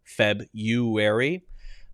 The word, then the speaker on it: February: of that word is feb you weary i i skip the r i skip the r i just do it's